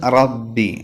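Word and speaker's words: ربِّ: ലില്ലാഹി ലില്ലാഹി ലില്ലാഹി അടുത്തത് റബ്ബി റബ്ബി റാഹ് പറയുമ്പോൾ തഫ്കീം ആക്കണം എന്ന് തന്നെയാണ് നാവിന്റെ തലയുടെ മുതുക് മേലെ മുൻപല്ലിന്റെ ഊനിൽ തട്ടിച്ചിട്ടാണ് റാഹ് പറയേണ്ടത് മുതുക് എന്ന് പറയുമ്പോൾ നാവിന്റെ തലയുടെ മുകൾ ഭാഗം മേലെ മുൻപല്ലിന്റെ ഊനിൽ തട്ടിക്കണം അപ്പൊ റബ്ബി തഫ്ഹീം ആക്കണം അതോടൊപ്പം തന്നെ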